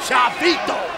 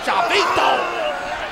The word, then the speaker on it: Chavito: Him and Chavito. That's how I'm supposed to say his name. Chavo told me. Not Chavo. Chavito!